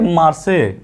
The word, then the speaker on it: Marseille: ठीक, अब देखिए मार्से MARSEILLE, अब फ्रेंच भाषा में है यह, तो मार्से कह सकते हैं इसको, या स्पेलिंग ध्यान रखिए MARSEILLE।